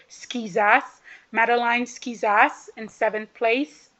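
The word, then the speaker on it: Schizas: skizas in seventh place I will not get that name wrong because you guys told me how to say it skizas mateline skizas in seventh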